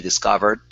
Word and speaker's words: discovered: Okay, this word here, instead of discovered, discovered. Use your schwa. Discovered.